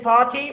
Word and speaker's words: party: RT will be pronounced as d.